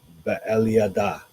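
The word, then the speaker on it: Beeliada: Because usually in Hebrew, the last syllable is the one that gets the emphasis. So, Be'eliada, and Eliphalet.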